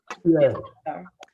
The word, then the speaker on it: Peay: Peay.